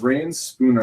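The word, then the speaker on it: Reyn Spooner: Is it Rain Spooner, I believe is how you pronounce it.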